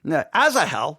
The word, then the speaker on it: Asahel: Asahel, there we go, Asahel, during a battle.